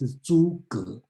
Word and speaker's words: Zhuge: And the other important person's name come out is Zhuge Liang. We will talk about this one. Don't pronounce it as Zhu or something. It's Zhuge and Liang.